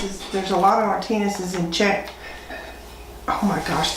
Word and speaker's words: Martinets: Martinez. Martinez. It's like the Spanish names sound, but they said it was, and Henry Hoybeck verified that it's a Czech name. Martinez is, there's a lot of Martinez's in Czech.